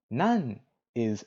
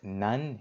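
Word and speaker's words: 何: Nan is what? Now, the reason that it's pronounced nan here is because we have des following it. Usually, it's going to be pronounced nani.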